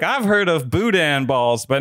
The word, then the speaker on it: boudin: good in your mind does boudin rhyme with putin it's it's the way it's said obviously you can say